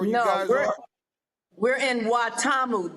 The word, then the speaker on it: Watamu: I've try I'm gonna try to pronounce it. Mombasa. Is that where you guys are? We're in Watamu.